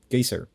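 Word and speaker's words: Geysir: lastly they're also apparently the word geyser comes from the massive Geyser in Iceland called gyser so the word itself got we just butchered the pronunciation and decided to make it official yeah pretty much oh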